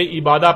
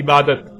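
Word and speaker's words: عبادة: لکھا جاتا ہے عبادہ، اور جب عربی لہجے میں اس لفظ کو پڑھا جاتا ہے تو تیز ساکت ہو کر ہے کی آواز میں بدل جاتی ہے، یعنی اسے عبادہ پڑھا یا بولا جائے گا۔ عربی کا لفظ عبادہ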